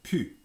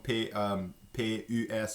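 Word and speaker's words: pus: So the plus with ne plus in Louisiana French becomes pronounced just pu. And des fois, j'écris ça comme P-U-S ou P-U.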